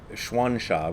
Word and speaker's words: Xuansha: Shohaku Okumura, who I also respect a great deal, translates Xuansha, which is the same as Gensha, it's just the way you pronounce it in Chinese.